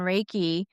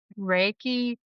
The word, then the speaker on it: Reiki: Reiki tends to sub two syllables. So there's Ry and K.